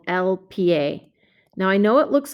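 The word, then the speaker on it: el pie: feet so it's not pie it's lpa you've got to pronounce both of those letters in in spanish now this makes sense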